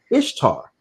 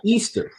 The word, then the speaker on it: Ishtar: Ishtar is pronounced Ishtar, not Easter. They only sound vaguely similar in English and only in English.